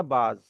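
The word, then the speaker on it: بعض: इसी तरीके से बे, एन और ज्वाद, ये हो गया बाज।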